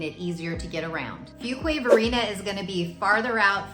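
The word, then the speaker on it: Fuquay-Varina: So said together, it's Fuquay Varina. Now, when I first moved here, I would try to pronounce it and say Fuquay, Fuquay.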